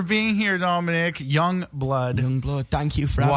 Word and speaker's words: YUNGBLUD: here Dominic Young Blood Young Blood thank you for having y u n g b l u d yes that's how you say it yes Grant Owens thanks